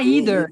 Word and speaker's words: either: só queria interpretação aham ela disse americana falou que pode ser pronunciado Dos dois jeitos agora não sei se